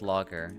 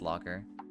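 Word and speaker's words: lager: I I feel like uh I I feel like that's uh it's pronounced logger. Okay. Not lagger, it's logger.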